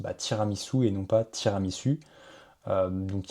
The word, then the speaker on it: tiramisu: Donc typiquement euh si on laisse par exemple le mot tiramisu comme ceci, l'agent va tout simplement dire tiramisu au lieu de dire tiramisou.